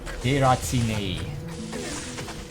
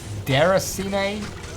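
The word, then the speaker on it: Déraciné: Deracine. That's how you say it. Deracine. Deracine? It does say that it's French. It means uprooted.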